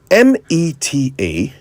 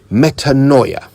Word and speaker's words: metanoia: Metanoia. I'll spell it. Metanoia. Metanoia.